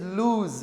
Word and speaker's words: lose: This is lose with Z sound but that's loose. That's s sound.